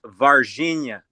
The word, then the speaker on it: Varginha: It's pronounced Varginha.